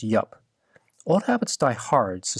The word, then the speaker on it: IUP: I'll be talking about the library iup or yep today I learned last year at the Lua Workshop that it's pronounced yup old habits die hard so Sor in advance